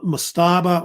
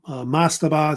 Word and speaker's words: mastaba: they have what they call maaba or mastaba it's usually pronounced either one these were like the